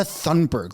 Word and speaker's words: Thunberg: It's Greta Thunberg. Like, why are you pronouncing it in the very weird way?